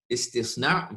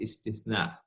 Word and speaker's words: istisna: Istisna versus istithna. Manufacturing contract versus an exception to the general rule.